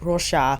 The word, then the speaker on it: Roxa: newly released rockar palette which I was told is to be pronounced Rosa Portuguese for purple but Natasha says Roa so I'll say Roa just for consistency sake but I am aware